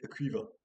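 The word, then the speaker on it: Caoimhe: Euh donc si je vous l'appelle C A O I M H E, vous prononcez comment ? Maintenant, on sait nous donc c'est moins drôle. Et ben on va donc prononcer Cuiva.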